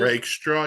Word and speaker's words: Rakestraw: Is that how you pronounce it? Rakestraw, yeah, from Missouri.